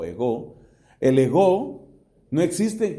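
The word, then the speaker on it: ἐγώ: Tiene el acento en la O, ego.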